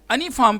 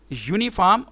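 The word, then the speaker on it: uniform: हाँ, अलबत्ता अगर आप यूनिफॉर्म को अनिफॉर्म प्रोनाउंस करें, यूनिवर्सिटी को अनिवर्सिटी प्रोनाउंस करें तो फिर ये वावल साउंड होगी, जबकि ये अनिफॉर्म और अनिवर्सिटी ये रॉन्ग प्रोनाउंसिएशन है। इसका करेक्ट प्रोनाउंसिएशन यूनिफॉर्म और यूनिवर्सिटी है।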